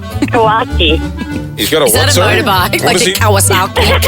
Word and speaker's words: Kawasaki: My partner has a Kawasi. Kawasaki.